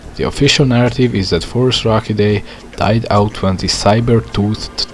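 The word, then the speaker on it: Phorusrhacidae: Forus-Rachidae. Forus-Rachidae, also sometimes pronounced as Forus-Racidae, was technically not a dinosaur but instead a group of mostly flightless group of birds.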